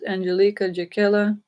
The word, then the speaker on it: Angelika Jakiela: Earth as they rightly deserve my name is Angelica jaquela it is spelled a-n-g-e-l-i-k-e my last name is spelled j-e-k-i-e-l-a